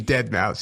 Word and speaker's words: Deadmau5: like I don't even know what he DJs, but like I can tell you that he pronounces it fucking dead mouse.